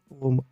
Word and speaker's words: ॐ: ओम का उच्चारण 3 ध्वनियों से मिलकर बना है। इसका अर्थ वेदों में भी बताया गया है। ओम आ, उ, मा इन 3 वर्णों से मिलकर बना है।